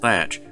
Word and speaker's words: Teach: about the life of edward teach sometimes pronounced thatch more famously known as